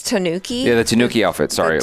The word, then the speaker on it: Tanooki: you say the name of the record it's Tanooki yeah the Tanuki outfit sorry like I never